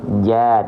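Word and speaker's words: ج: dia huruf yang tebal tapi kalau Jim bukan Jo ya tapi ja maka dia huruf yang huruf yang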